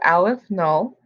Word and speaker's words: aleph null: It's pronounced aleph null, and it's a number beyond any finite number.